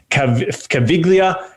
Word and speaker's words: Caviglia: It's Vince Caviglia. So it's spelled with a G, but it's silent.